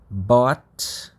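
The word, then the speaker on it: bought: o verbo comprar vira bot Bot lembra quando tem g a gente não pronuncia o GH no meio da palavra né porque no final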